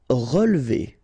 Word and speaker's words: relever: Relever. Okay, so first, re, then we don't insist on this here. So relever, relever.